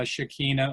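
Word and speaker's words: Shekinah: there it refers to the shikina or shik I've seen both pronunciations it's referring to the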